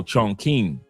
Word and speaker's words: Chongqing: It's pronounced Chong Chong. Oh, Chongqing.